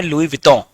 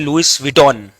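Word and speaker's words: Louis Vuitton: लोग अलग अलग प्रोनाउंसिएशन करते हैं, पर उसका जो एग्जैक्ट फ्रेंच प्रोनाउंसिएशन है वो है लुई विटॉन, है ना, लुई विटॉन। यू लोग बोलते हैं लुइस विटॉन, है ना, तो इट्स लुई विटॉन, है ना।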